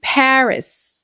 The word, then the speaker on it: Paris: Le A se prononce A, le I se prononce e et le R se prononce R. Donc ça donne Paris. Non pas Paris mais Paris.